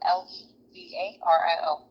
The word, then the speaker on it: Levario: I'm sorry, how do you spell that? Lavario, Levario.